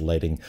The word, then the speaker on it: leading: between the lines and it is pronounced leading after the strips have led that went between the rows of type and the old days